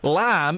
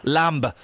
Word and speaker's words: lamb: pronounce his waist yes lamb is spelled la mb lamba but we say Lam some work or some